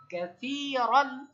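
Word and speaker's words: كثيرا: Calf ফাতা কা, scene ইয়া কাসরা সি, এটা কিন্তু ইয়া মাদ। কাসি, র আলিফ দুই জবর, রন, কাসিরান। মাশাআল্লাহ। কি উচ্চারণ? কাসিরান, সিটা কিন্তু পাতলা, সি, কাসিরান। মাশাআল্লাহ।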